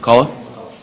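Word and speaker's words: McCullough: you help me with the last name m Mulla okay thank you thank you could you spell that yes uh MCC u l l o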